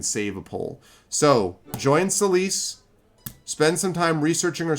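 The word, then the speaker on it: Celyse: Yeah, in case you're curious, Celise is spelled C-E-L-Y-S-E.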